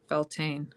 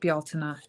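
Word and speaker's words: Beltane: Um Anna asks how I celebrate Beltain actually pronounced Baltina.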